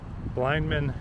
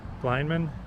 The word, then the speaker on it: Blynman: Alright, so we're coming up on the Blynman Bridge and the Blynman Canal. That's spelled B-L-Y-N-M-A-N.